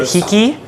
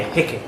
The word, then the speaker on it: Waiheke: Um, and what's the official way to pronounce the name? Is it Heeki? Yeah. Heck.